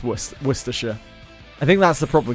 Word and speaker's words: Worcestershire: I think a lot of people just really mispronounce Worcestershire. I think that's the problem, because we slur our speech really awfully. But it's actually not that bad once you break it down. It's just worse.